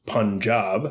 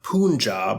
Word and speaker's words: Punjab: India so what's Punjab Punjab pronounced Punjab and not Punjab or any of the other nonsense I've heard people say is a state in